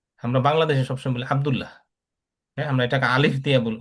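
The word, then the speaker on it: عبدالله: আইনটাকে ঠিক মতো উচ্চারণ না করলে বুঝতে পারে না অনেকে, আরব ভাষাভাষী লোকজন বুঝবে না এই জিনিসটা।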